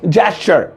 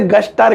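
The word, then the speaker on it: gesture: लेकिन इसकी सही प्रोनाउंसिएशन होती है जेस्चर। जेस्चर, जैस चर, चरसी, हाँ वो चर वाला चा और रा वो होती है। अब ध्यान रखना ये तुम्हारे सामने आया ना तो इसे गस्टर, गैस्टर, गुस्टर मत पढ़ना, जेस्चर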